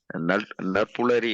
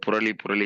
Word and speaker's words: நற்புலரி: ஒரு நிமிடம் ஒரு வார்த்தைக்கண்ணன் சாருக்கு நீங்க நற்புலரி என்று சொல்ல வேண்டும். நற்புலரி புரளி என்று கூட வேண்டாம். கொஞ்சம் உச்சரிப்பையும் சிறப்பாக செய்தால் மிக சிறப்பா இருக்கும்.